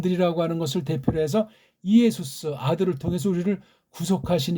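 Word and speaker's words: Ἰησοῦς: 모음도 뭐 어병이고 뭐가 아니까 아니 어떻게 이게 이에수스 해야 어떤 세상 사법 헬란 말 발음이 되는데 헬라 그냥 예수 구약 예호슈아 같은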